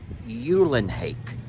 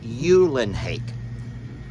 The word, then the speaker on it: Ulenhake: do you and hake Americans have a bad tendency to when they see an e at the end of the word they pronounce it like a megaliori or fettuccine all I know is I actually talked to Teresa she sent me a voice text and it said yulin hake oh yulin hake that